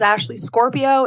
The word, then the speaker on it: Scorpio: said my name is ashley scorpio it's spelt how it sounds like the horoscope sign and it's just the